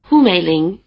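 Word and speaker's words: Hǔ Měilíng: a low tone, both full names would be pronounced "Hú Měilíng".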